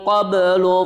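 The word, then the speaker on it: قبل: di pemberhentian pertama adalah qabl, bukan min qab. Nah, itu salah. Kenapa qab salah? Karena di situ huruf akhirnya bukan ba tapi lam. Ini berarti paduan antara ba sama lam. Bacanya yang benar seperti ini. Min qabl. Qabl. Nah, ba-nya itu tetap ada qalqalahnya dipantulkan. Min qabl. Nah, tapi karena di situ akhir hurufnya adalah lam, maka lamnya juga dibaca.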